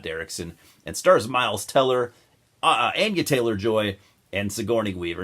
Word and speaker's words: Anya: notice I corrected myself I'm trying to get myself in the habit of saying Ana instead of Ana for the longest time I said Ana Taylor Joy she pronounces it Ana I'm trying to respect